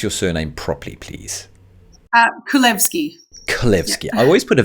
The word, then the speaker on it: Kulevski: the quest in chiropractor today we have with us and actually I've butchered your surname there give us your surname properly please uh kvki kvki I always put a v in there